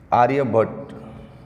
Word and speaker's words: आर्यभट: मुनि and scientist Shri आर्यभट्ट। यस, जैसे तो इंग्लिश में उसको आर्यभट्टा बोलते हैं, लेकिन अपने को तो वही हिंदी वाली आदत है, तो श्री आर्यभट्ट।